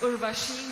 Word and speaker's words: Urvashi: Your question comes from Urvushi. Did I say it right? Yes, Urvashi Rautela.